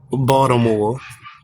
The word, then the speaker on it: Baltimore: from I'm from Baltimore oh from who balmore oh that's a new pronunciation I've never heard it said let's uh pronounce that way Baltimore okay I'm right we